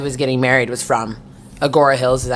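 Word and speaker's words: Agoura Hills: But I was just like, oh yeah, like the guy who was getting married was from Agora Hills, is that how you say it?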